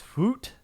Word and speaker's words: FUIT: FUIT gummies. It's not fruit gummies. It's Foot gummies.